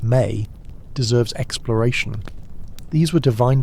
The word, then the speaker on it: me: The Mesopotamian concept of me, pronounced may deserves exploration.